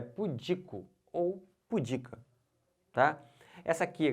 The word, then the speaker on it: pudico: pura ela é pudica e não pudeco se você fala pudico errou tudo perceberam é pudico ou pudica tá essa